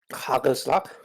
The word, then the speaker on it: hagelslag: Hagelslag. Yes. For however that's pronounced. You want to have it on my best Dutch? It's hagelslag. And it's exactly what it sounds like.